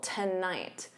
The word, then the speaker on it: tonight: So notice that syllable stress, the first syllable is unstressed, so to becomes that unstressed ta. And then night is your stressed syllable, tonight.